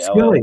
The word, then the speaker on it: Skille: Jack Skille? Skilly? S K I L Skilly, yes. Skilly. San Jose took Devin Setoguchi,